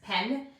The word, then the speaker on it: penne: And then they are the ones who taught me how to pronounce penne properly, because there's two N's, penne.